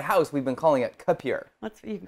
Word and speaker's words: K'Pure: So in my house, we've been calling it Capure. You can call it whatever you want. You're okay with that? Yeah. Okay, as long as we... Because phonetically, I guess with you, it is Capure, but it's K-Pure.